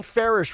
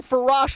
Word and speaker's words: Farish: And I mean, how many times did I get Sean Farish wrong? I called him Farash for like 3 months.